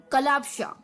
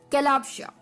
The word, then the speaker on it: calopsia: ठीक है, तो चलिए द 8th word for the evening is कलापशा, कलापशा।